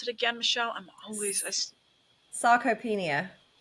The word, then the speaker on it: sarcopenia: How do you pronounce it again, Michelle? Sarcopenia. Sarcopenia.